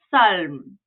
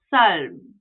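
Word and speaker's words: 삶: So down here, we're going to say this as salm, salm.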